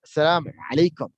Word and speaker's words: Assalamu alaikum: Assalamu alaikum. Okay. Now, how the Arab people say Assalamu alaikum? They say Assalamu alaikum.